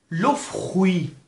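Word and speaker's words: le fruit: باز ببینید اینجا به دنبال صدای ف اغ هست که گفتیم معمولا به صورت خ تلفظ میشه. لو فخوی. لو فخوی. لو فخوی به معنی میوه هست که تی پایان کلمه هم تلفظ نمیشه.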